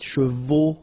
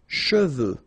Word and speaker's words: cheveux: of a problem because some of the students normally pronounce it chevaux, okay? So try to keep in mind that you get E-U here. So it goes like okay, and then final X not pronounced, sorry, final X, should pronounce it the French way. Final X is not pronounced.